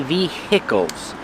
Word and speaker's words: vehicles: The H is silent. We do not say vehicles. It's via.